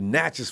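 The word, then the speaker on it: Natchez: natches with oh oh not matches but natches with natches Mississippi all right there you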